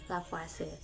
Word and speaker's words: Lavoisier: massa yang dikemukakan oleh lavase nah ditulisnya sih memang lavoisier namun dibacanya Rafa sedekat Nahla Fase ini merupakan corak Perancis nah dalam hukum kekekalan